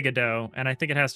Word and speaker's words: Godot: I actually fully understand and actually kind of agree with the go dot pronunciation because go dot is like robot and that's like what this little guy is, right?